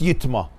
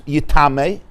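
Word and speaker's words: יטמא: So just like you said, the first yitma could also be read as yitame. It intimates yitame, even though it's read yitma. And we know why it has to be pronounced yitma.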